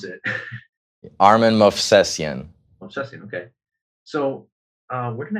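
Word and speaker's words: Armen Movsesyan: All right, well, I'll let you pronounce it. Armin Movsesian.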